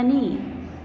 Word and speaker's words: knee: The last one is the teacher has shown the diagram of a knee. Here again K is silent, but the very first sound is consonant, that's why we have used a before knee.